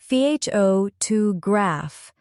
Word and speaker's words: photograph: For example, the word photograph has stress on the first syllable, photograph, but photography has stress on the second syllable.